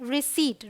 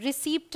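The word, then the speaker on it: receipt: है यह है न्यूमेटिक यहां देखिए पीटी है यह है रिसीव रिसीप्ट नहीं बोलते हैं ये है सूडो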